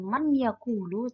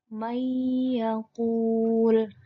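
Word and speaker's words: مَن يَأْكُلُ: Menjadi bukan man yakulu, tapi may yakul.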